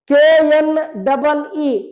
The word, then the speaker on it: knee: KNEE knee, K is a silent letter.